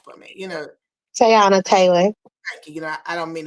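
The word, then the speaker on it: Teyana Taylor: Pronounce her name for me. Tayana Taylor.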